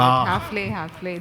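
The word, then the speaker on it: Häfele: Hafele has been, did I pronounce it correctly? Hafele? Like I said, we are flexible. You can call it Hafele.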